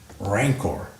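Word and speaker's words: rancor: refuse now that's all noun adjective hard C soft SE ranor rancid wow you see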